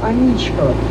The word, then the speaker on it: Аничков: красивых мостов петербурганичко мосту именно с таким ударением на второй слог название его произносится к женскому имени Анечка не имеет никакого отношения мост получает название по фамилии подполковника аничкова он руководил строительством деревянного